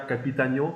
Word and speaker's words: Capitanio: Aujourd'hui, on a le plaisir et l'honneur de recevoir Capitagno. J'ai bien dit? Oui, absolument bien Ouh. dit. Je m'étais préparé.